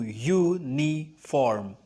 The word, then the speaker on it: uniform: The sound of U in the word uniform is Y-O-U-U. So when you pronounce the word uniform, it is pronounced as Y-O-U, uniform. And U is a consonant sound. So it is right to say a uniform, not an uniform.